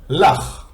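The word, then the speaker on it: לָךְ: And under the lamed we have kamatz, which is pronounced as a, and this is why it's la, ch. Under the chaf we have a shva, so that's why we say here ch, because as I said,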